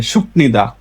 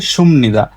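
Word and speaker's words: 습니다: সুকনিদা যখন নতুন নতুন করেন শিখে সবাই বলে শুকনিদা কিন্তু আর আসল উচ্চারণ হচ্ছে সুমনিদা যে বাচিমে বিয়োগ তারপরে পাইছি নিয়ং তাহলে বিয়োগ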